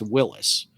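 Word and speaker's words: Willys: how you pronounce it it is spelled w-i-l-l-y-s through the history of the whole company but the family name is pronounced willis john north willis and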